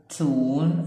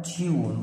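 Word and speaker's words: tune: بعد كده في كلمات واحد تون او تيون، برضو اليو هنا بتتنطق يا اما يو يا اما او، يبقى تيون او تون، الاثنين صح.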